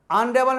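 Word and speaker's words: honourable: अनरेबल में H silent है, अनरेबल, इसलिए अनरेबल।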